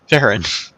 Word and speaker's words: Farron: All right, Fern. I'm sorry. Farron. I don't know I if knew- I should address it or if Farron should, but it's okay because it's spelt in a Fern sort of way.